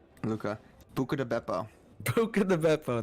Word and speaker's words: Buca: Yeah, Buca rhymes with Luca.